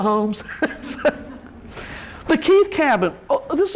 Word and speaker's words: Holmes: it I got it homes County it's homes but they the people there call it homes the Keith cabin this